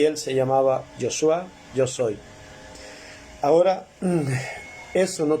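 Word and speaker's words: Yeshua: que nació en Belén, y se pronuncia en nuestro idioma Jesús y en el idioma hebreo Yoshua, yo soy.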